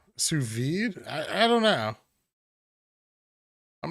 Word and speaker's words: sous vide: i'm okay with that i don't believe you pronounce the d in sous vide sous vide i i don't know